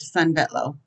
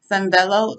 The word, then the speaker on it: Sanvello: Just search the word Sunvello, which is spelled Sanvello. If you are a Lakeland student, premium access is free.